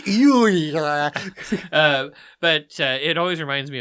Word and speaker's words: Euler: It's Euler."